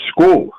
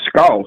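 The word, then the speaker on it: Scull: Canelo tomorrow night against school. His name's school. It ain't skull. My god, how the hell do you get school out of Skull?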